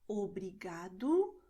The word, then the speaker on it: obrigado: And the letter O at the end of the word is pronounced as U. So you're going to say obrigado como logo.